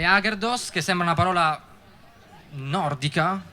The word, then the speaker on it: Agherdoss: Sì, abbiamo storpiato semplicemente l'accento e in piemontese sarebbe Aggerdus, però non ci dava molta dolce, quindi Ah, adesso ho capito. Non ci dava molta credibilità, forse Agerdus. Beh, e allora abbiamo detto, vabbè, mettete un po' l'accento dove volete, noi ci chiamiamo Aggerdos, però poi Agerdos,